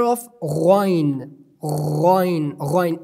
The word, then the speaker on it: غين: The next we have letter of غين. غين. غين. It should be pronounced explicitly and clearly. How is the definition? We pronounce it from end of our throat but massively, like غائبين.